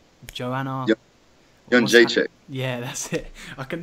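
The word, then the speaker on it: Jędrzejczyk: I'm unable to pronounce her name. Joanna. Janjacek.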